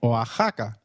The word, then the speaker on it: Oaxaca: Did you notice that the X in Mexicano is pronounced as H? While X is usually pronounced as X inflexible, it is pronounced as a throaty H in the words Mexico, Mexicano, and Oaxaca, which is a state in Mexico.